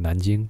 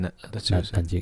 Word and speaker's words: Nanjing: A lot of stuff that happened in Mandarin, we call it Nanjing, but that's how you say it. Nanjing. Yeah, Nanking is like the old way of pronouncing.